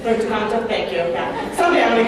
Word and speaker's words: Punta Cana: Punta Cana, thank you.